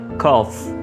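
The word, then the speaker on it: cough: इसका एंड पे जो GH है उसको F वाला साउंड देना है. कफ.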